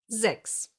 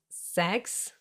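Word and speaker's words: sechs: Why is it not pronounced as sex? Because most of the time in the German language, an S at the beginning of a word will be pronounced like a Z.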